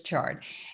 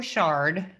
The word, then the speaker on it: chard: herbs now here's swiss chard and it almost looks unreal because the stems of this rainbow shard or chard depending on how you say it uh they just